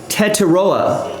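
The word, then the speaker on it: Tetairoa: Wikipedia has a pronunciation guide. T-Mac, Tet McMillan is right. Tetaroa McMillan.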